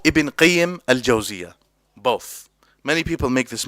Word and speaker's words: Ibn Qayyim al-Jawziyah: But the correct way to say both names is as simple. Just to put it simply, you can say Ibn al-Qayyim or Ibn Qayyim al-Jawziyah.